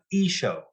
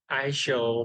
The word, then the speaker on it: I-Shou: pronounce your University name uh is show is show okay thanks yeah it's it's I've been saying I show for quite some time yeah it's spelled